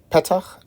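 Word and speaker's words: פֶּתַח: Petach, so accent on the penultima, gate, or opening the entrance of a house, for example.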